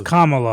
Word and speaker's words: Kamala: kamala or kamala or what is that it's kamala i'm not gonna be i learned it because if you mispronounce it you're a racist and so it's